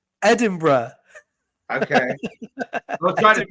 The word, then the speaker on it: Edinburgh: that we have Jay the capital of Scotland Edinburg Edinburgh okay I was trying